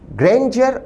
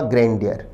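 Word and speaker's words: grandeur: ग्रैंडियर अथवा ग्रैंडियर, option D के दोनों उच्चारण सही हैं।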